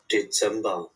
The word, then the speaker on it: Dezember: ডিসেম্বর, ডিসেম্বরে এখানে জেড এর এখানে স উচ্চারণ হবে না? না, ওই যে বরিগজ্জের মতো মানে স মানে হচ্ছে হয় কাছাকাছি।